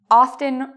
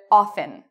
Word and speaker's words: often: Some people say often, that's good. Other people say often with a silent T. Both ways are acceptable.